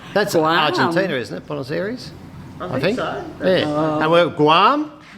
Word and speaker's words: Buenos Aires: well, I've got to say, Bruno Ayres, is that a place? Bruno, is that, am I pronouncing that properly? no, Ayres. Buenos Aires.